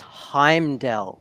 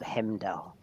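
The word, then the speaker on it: Heimdall: um Comics um and it's heimdell not hemdel heimdell hamdale it depends where you went to school if they even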